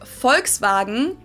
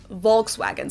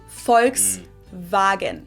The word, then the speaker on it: Volkswagen: But even if we did go by the full name, it would be pronounced Volkswagen and not Volkswagen. So just imagine that it was spelled with an F and V instead. Volkswagen.